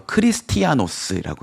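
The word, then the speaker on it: Χριστιανός: 거는 이거를 이제 죄송합니다 자 뭐라고 읽느냐면요 헬라어로 크리스티아누스라고 해요 근데 많이 들어봤죠 크리스티아노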